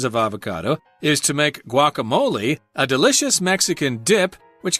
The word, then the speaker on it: guacamole: So they actually say guacamole with an A at the end instead of an E, but either way is fine.